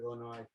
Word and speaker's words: Illinois: the great state of illinois absolutely well not sure why we don't pronounce the s at the end i'm not sure but